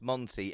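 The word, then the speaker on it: Mante: not gonna lie and he spells Monty m-a-n-t-e but it is Monty pronunciation so like you said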